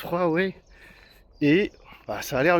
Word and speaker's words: Huawei: Oui, ça se prononce Huawei.